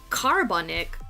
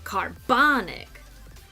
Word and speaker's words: carbonic: So we don't say carbonic or carbonic. We say carbonic. The bon is where the stress is.